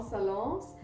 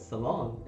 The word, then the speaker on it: salon: Just pronouncing it saloon, and they were Yeah, like, because there were "Ah, two damn it, man, O's." it's No. no, it's salon. It's salon. So it's a with 1 O.